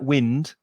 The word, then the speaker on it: wind: And be careful of the pronunciation, because it looks like wind, but it's I, the vowel sound. So it's wind up.